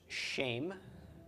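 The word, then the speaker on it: שֵׁם: Sarah under the sheen it's pronounced shame and shame is a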